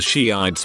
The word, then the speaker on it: Shiites: I remember in high school one girl was giving a presentation on something and kept mentioning the Shiites but pronounced it shites for her whole 10-minute thing.